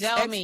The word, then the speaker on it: Xiaomi: Google, there's Google Pixel there, and there's this Xiaomi. I don't think I'm pronouncing it well, but it starts at X. Xiaomi, yes.